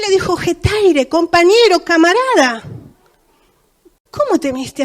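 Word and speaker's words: ἑταῖρε: Y es una palabra que se pronuncia en griego hetaire.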